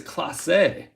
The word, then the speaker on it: Clase: appreciate that emmanuel clase i was pronouncing it clays and i think it's class a look at that with